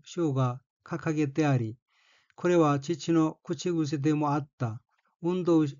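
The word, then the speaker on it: 口癖: 도우지오노 카베니와 진세 스베테 슈교 토요 지치노 후데니 요르 쇼가 카카게 때아리 코레와 지치노 쿠치구세 데모 아따 운도 신케이노 이 사체와 빈시오나 미노 코나시데 민나니 이치모코 카레테 있다.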